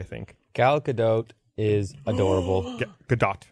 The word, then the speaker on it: Gadot: Or the T is silent. Nope, it's not. Because there's a video of her saying her name that someone showed me Gadot? once. And she says the T, but she is absolutely adorable.